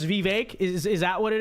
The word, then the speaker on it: Vivek: is that the way his name is spelled in English is Vivek there's no where's the ache it's not ache it's Vivek okay so uh you know unless he comes out and personally clarifies how the name is I'm gonna say it vivec it's it's it's the American way to say it's the English way to